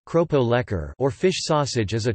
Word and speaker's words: keropok lekor: Lekor, Malay pronunciation, lekor, keropok lekor, Malay pronunciation, kropo lekor, or fish sausage is a traditional Malay fish cracker snack originating from the state of Terengganu, Malaysia.